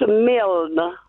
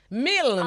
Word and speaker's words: Milne: It's pronounced Milne. Milne. Half of a million. No, better you say the full meal.